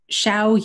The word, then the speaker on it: Xiao: for that he says the X in pinyin or Mandarin Chinese is pronounced ish so it'd be Xiao Yu Xiao okay Xiao Yu I will